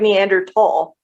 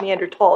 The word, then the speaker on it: Neanderthal: Just like Neanderthal. It's Neanderthal. It's not Neanderthal. No, it's not. It's Neanderthal. Yes, it is.